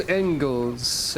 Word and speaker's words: Engels: My name is Engels. Engels? Serial number 1110C. Those arms are nasty. Keep your distance. Marks, smash. Marks, smash, 2. Pronounced like angels.